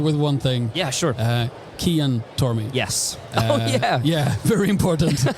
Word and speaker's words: Cian: Yeah, so Cian, it's an Irish name. And in Irish, in our language, the C is a hard C.